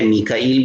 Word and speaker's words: میکائیل: میکائیل کا نام ہے، میکال بھی تلفظ ہے، اس کو میکال بھی پڑھا جاتا ہے، میکائیل بھی پڑھا جاتا ہے.